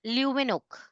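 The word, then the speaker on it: Leeuwenhoek: ल्यूवेनोक H silent ल्यूवेनोक ल्यूवेनोक Anton one ल्यूवेनोक एक scientist थे जिन्होंने प्रोटोजोआ ऑब्जर्व किया था, डिस्कवर किया था और बैक्टीरिया को भी ऑब्जर्व किया।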